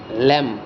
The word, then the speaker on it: lamb: নাই তো আজি এইটো ভিডিঅ'ত আমি আৰম্ভ কৰিম lamb ইয়াত ওপৰত লেখা আছে some silent letter in words so এইবিলাক আমি বাদ দিলো